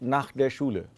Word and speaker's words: nach der Schule: Direkt nach der Schule, directly after school, Anisha went to the university.